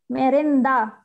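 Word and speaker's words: merenda: ওকে মেরেন্দা, হ্যাঁ মেরেন্দা, মেরেন্দা, দ দর উচ্চারণ হবে এখানে আপু, মেরেন্দা, মেদো মেদোসা, মেদুজা, হ্যাঁ মেদু উচ্চারণ হবে, দ উ দু মেদুজা, মেদুজা, হ্যাঁ মেদুজা, মেন্টা, ব্রাভিসিমা।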